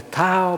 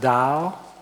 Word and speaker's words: Dao: so it's no longer Tao but Dow although the pronunciation is the same it's in between T and D and Taoism and so